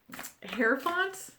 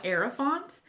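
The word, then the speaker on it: Hierophant: I'm saying it wrong it's just like um hair font I used to call it era font and someone on reddit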